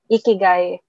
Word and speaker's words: ikigai: And for me right now, yung path na tinitake ko is looking for my ikigai. So, kung hindi nyo alam yon, search nyo na lang. It's spelled I-K-I-G-A-I.